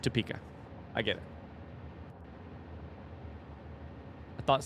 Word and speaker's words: Topeka: It's got to be toe. It could be two, but Tupika. That sounds weird. Opeka. Tupa. Pika. Topeka. Topeka. Topeka. Okay, it's just Topeka.